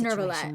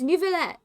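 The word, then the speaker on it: Neuvillette: I'll handle Farina says Nervalet myself. I hate it. That's not how you say it. There's not an R in there. And also, that's not even how you pronounce the French R. Anyway. It's Neverlet. It's just Neverlet.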